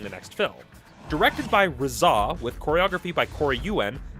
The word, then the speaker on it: RZA: to throttle me for pronouncing the name as RZA in the review instead of Reza.